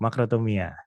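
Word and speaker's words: μακροθυμία: Apakah teman-teman tahu cara bacanya bagaimana? Atau ada yang mau open mic langsung? Oke, Adi Wibowo, makrotomia.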